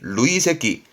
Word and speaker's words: 累積: 그래서 발음이 루이새끼. 음동은 루이예요. 루이새끼.